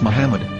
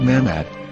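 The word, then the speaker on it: מחמד: yehuda's hebrew english dictionary it is correctly pronounced as muhammad not mahmod so how we're going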